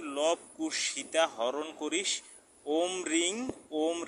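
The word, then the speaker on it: ওঁ: এইটা ও লেখে চন্দ্রবিন্দু আছে, তার মানে এটা হচ্ছে, এটার উচ্চারণ হবে, এই ব্র্যাকেটে দিয়ে দিছি ও রসু ম ওম।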